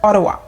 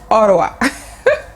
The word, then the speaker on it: Ottawa: is what's ha so they actually pronounce it as Ottawa Ottawa I'm an interesting fact